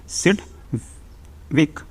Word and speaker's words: Sidgwick: सीट भी कौन थे सीट वीक जी साइलेंट में सेवक और दूसरे थे कौन